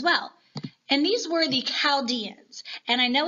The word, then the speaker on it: Chaldeans: And these were the Chaldeans. And I know it's a CH, but it is pronounced with that K, hard K sound, not a CH sound. Wait, what? I thought it was the Chaldeans.